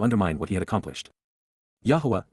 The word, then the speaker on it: Yahowah: Yahwa Yahwa the proper pronunciation of the name of Eloha God as directed in his Torah teaching regarding his high existence and our shalom restoration.